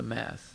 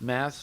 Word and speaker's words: math: of caitanya but the math math can be pronounced math like in numbers or mat the disciplic succession so